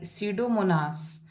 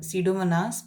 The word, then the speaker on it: Pseudomonas: into elemental nitrogen by pseudomonas this process is called denitrification in this word pseudomonas p is silent but you have to write p now i'll show you